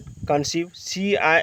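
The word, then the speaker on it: conceive: जैसे इसमें कंसीव CEI, तो दीर्घई दिया कि नहीं दिया, हाँ सर।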